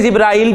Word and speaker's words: जिब्रील: जिब्रील, कुरान में जिब्रील का है और हदीस में जिब्राइल भी आया है, दोनों तरह ठीक है, ठीक है। कुरान में जिब्रील आया है तो जिब्रीलु, जिब्रीला, जिब्रीला।